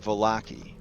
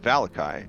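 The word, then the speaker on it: Vallaki: a chat now you may have heard it volacki but the person that read the cursive strad book to me three times uh pronounced it valakai and I liked that more and since of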